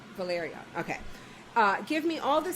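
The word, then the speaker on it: Velaryon: Valerian. I want to make sure I'm saying it right because there's... That's right. Valerian.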